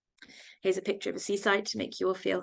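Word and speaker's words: CSIDH: quite efficient um so that's uh this is pronounced Seaside in case anybody's wondering how to pronounce that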